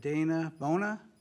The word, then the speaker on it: Dana Bona: With that, we have Dana Bona. Did I pronounce it?